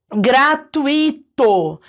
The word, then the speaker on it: gratuito: por exemplo gratuito ó gratuito como isso aqui é um ditongo né eu tenho duas vogais na mesm sílabas na mesma sílaba gratuito O tui ele é a pronúncia mais forte aqui que tá sílaba tônica se eu falasse gratuito deixasse só o i como se ele fosse um iato eu estaria errando a prosódia da palavra porque é gratuito tudo